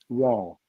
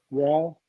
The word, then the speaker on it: Wahl: Wall as striker. Yeah. Who will? WAL. Yeah. I've never heard of him. He's younger. WA. He's It's like younger. it's spelled like the Clipper. WAHL.